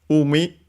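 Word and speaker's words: 海: Umi means C. It's a strictly Japanese uh is a word of strictly Japanese origin should be accented I think on the first syllable and yes it is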